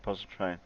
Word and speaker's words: Pontchartrain: blue's video about lake pontchartrain yeah go on him if you want to do that if you want to pronounce it right it's pontchar train poncho train there's no ears puncture